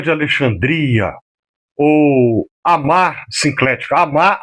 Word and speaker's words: Amá: Amar, A-M-A, né, oxítona, significa mãe.